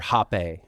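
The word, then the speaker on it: rapé: called again it's called it's called r or ho and it's spelled r a p with an exante goo but yeah but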